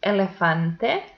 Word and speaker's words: elefante: And the last example is elefante. So the penultimate syllable is also the stressed one, but it ends in a vowel, so it doesn't have the accent mark.